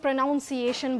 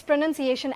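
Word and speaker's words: pronunciation: और प्रोनंसिएशन को भी काफी लोग प्रोनाउंसिएशन बोलेंगे। वो बड़ा तो इट्स प्रोनन्सिएशन।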